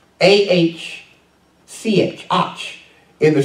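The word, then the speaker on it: אח: Hebrew word for brethren is ouch ouch is pronounced aah see it ouch in the Strong's Concordance if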